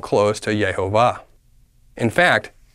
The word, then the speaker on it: Yehovah: How many syllables is Yehovah? 3. 3 is not the same as 2.